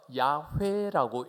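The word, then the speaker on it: Yahweh: 히브리어는 오른쪽에서 왼쪽으로 읽어요. 그래서 저걸 읽으면 야훼라고 읽습니다. 그런데 이스라엘의 성경을 기록하는 서기관들은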